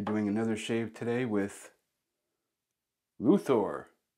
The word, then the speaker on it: Løthur: uh Thor it's um a lot of Americans and other people around the world say lothor but it's actually is uh the O that you see here uh it's ooh it's Danish and I